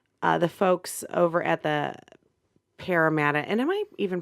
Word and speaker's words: Parramatta: I did want to give a shout out to the folks over at the Parramatta. And am I even pronouncing that?